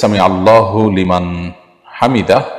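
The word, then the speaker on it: سمع الله لمن حمده: থামতে হবে সেখানে যেখানে মানুষ ওয়াকফ করবে, ওয়াকফ না করলে সেখানে আপনার হরকত থাকলে সেখানে সাকিন দেওয়ার সুযোগ নেই, বিশেষ করে শব্দের শেষে।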